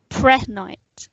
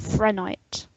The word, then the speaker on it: prehnite: Maybe if you pronounce it correctly. Prehnite instead of Frenite.